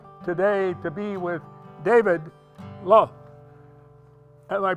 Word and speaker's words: Lauth: it's my delight today to be with David lo and i pronouncing that right there that's exactly right bill